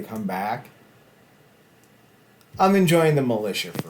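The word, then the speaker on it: Malisha: Alicia Edwards are the militia but it's spelled like Masha and then Alisha so it's m a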